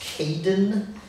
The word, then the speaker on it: Caiden: your name right um assuming is pronounced Kaden c a i d e n Caden and I'm